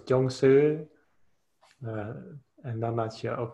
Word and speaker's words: Chuang Tzu: Het is Chuang Tzu. Dit spreek je uit als Chuang Tzu.